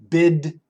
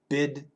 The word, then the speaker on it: bid: podcast number one yeah bid bed short I short e bid bed I'm coach Shane's USA